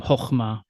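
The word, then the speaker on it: חָכְמָה: an o sound, so you'll encounter something called the qametz hatuf in some readings of biblical Hebrew, where this closed unaccented syllable of a qametz makes an o sound. So a word like wisdom, chokhmah, is written with a qametz in the front.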